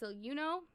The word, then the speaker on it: Siluno: So, like I said, this wonderful VTuber, I'm saying the name wrong, but I believe it's pronounced Siluno, S-I-L-U-N-O.